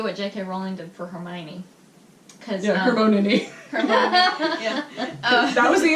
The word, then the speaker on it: Hermione: you could do what JK Rowling did for Hermione her pony that was the entire reason why that scene was there is because too many people were mispronouncing co-writing I was calling her Herman for the longest time no I was worse